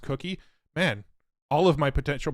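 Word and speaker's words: Coqui: voice cloning that's also what that Ki or kwii uses or cookie o somebody say it's pronounced cookie man all of my potential pronunciations must have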